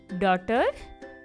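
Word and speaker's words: daughter: तो हमारा आंसर होगा द साउंड ऑफ के इज साइलेंट, ठीक है। अब हम चलते हैं सेकेंड लाइन पे। नेबर, डॉटर, फाइट और स्ट्रेट, NAI ने, GHPOUR बर, ठीक है।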